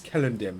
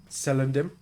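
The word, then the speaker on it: Celondim: letters so I believe locations in tolken Universe if it's begins with a c it's essentially a k so it's kellim not sendim which is good to know yeah it's very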